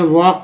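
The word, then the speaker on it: walk: यहाँ वॉक देखते हैं, वॉक में L साइलेंट है।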